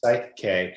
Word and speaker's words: PSYCH-K: p s y c h hyphen k it's pronounced psych k and it's essentially it's in the the group